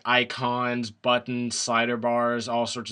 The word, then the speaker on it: Ayecon: the theme I'm running is called icon that is spelled a-y-e-c-o-n and it you can